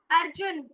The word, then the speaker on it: अर्जुन: बोलेंगे अगर संस्कृत में अर्जुन बोलना है तो ना के नीचे आपको हलंत लगाना पड़ क्योंकि वहा पर रुक जाएगा अर्जुन उससे आगे नहीं बढ़ना लेकिन संस्कृत के अनुसार इसका उच्चारण होगा अर्जुना अर्जुन उवाचा ऐसे बोलते